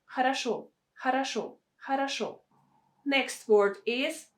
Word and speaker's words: хорошо: We have a stress on the last syllable. Хорошо. Шо. That is why O is pronounced as it should be. O. But the first two O are pronounced as A. Хорошо.